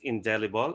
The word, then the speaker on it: indelible: So first is indelible. It should be pronounced as indelible, as in the indelible ink that cannot be erased.